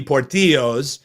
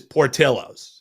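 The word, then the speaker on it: Portillo's: the pronunciation is wrong typically it would be Portillo but no this is Portillos uh just trust me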